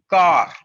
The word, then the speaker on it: quart: just one thing that quarter in french language is called as car oops there is a